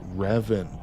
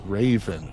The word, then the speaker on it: Raven: I keep saying Revan to Goth, and it's Raven. Oh, my God.